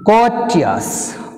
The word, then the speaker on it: courteous: two, second syllable from the end means b, courteous, courteous, co, cheers. So second syllable is co, first syllable is cheers.